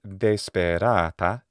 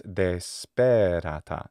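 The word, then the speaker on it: desperata: Instead of dēspērāta, it's dēspērāta.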